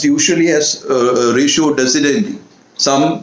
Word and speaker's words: ratio decidendi: So it is pronounced usually as ratio decidendi. Some pronounce it as ratio decidendi.